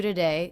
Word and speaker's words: today: de doo de doo today this is most definitely a schwa so we're reducing this unstressed syllable to be the schwa today today do today